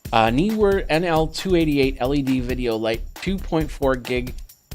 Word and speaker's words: Neewer: That's how you pronounce it. Neewer. Neewer NL288 LED video light, 2.4 gigahertz remote control.